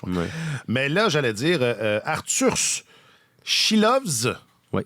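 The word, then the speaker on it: Artūrs Silovs: Mais là, j'allais dire Arthur Chilovs. Oui, c'est important de bien prononcer les S en letton.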